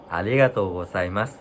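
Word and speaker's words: ありがとうございます: ฉาย เสียง ระดับ เดียว ใน การ ออก เสียง ภาษา ญี่ปุ่น นะ ครับ ใช้ เสียง ประดับ เดียว นะ ครับ เหมือน อ่า มัน จะ ต่าง จาก ภาษา ไทย ภาษา ไทย เรา จะ มี ขึ้น มี ลง ใช่ ไหม ครับ มี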